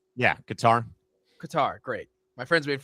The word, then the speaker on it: Qatar: I do feel like Qatar, I am pronouncing that right? Yeah, Qatar.